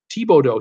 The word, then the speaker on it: Thibodaux: Robert Brandt at Brittany, those French name like Bordeaux is pronounced Bordeaux. Seakeeper, Thibodeau, simple as that. Trust me, Thibodeau, and Seakeeper would know.